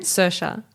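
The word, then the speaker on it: Saoirse: world Irish how do you say her name suha okay thank you Ronan right and she's on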